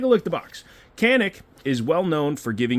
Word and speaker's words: Canik: Hey, what rhymes with Canik? Nothing, because it's actually Janik.